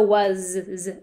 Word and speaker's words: was: that spell was so was has that z sound at the end sometimes the s can be confusing on the end because of that so this is our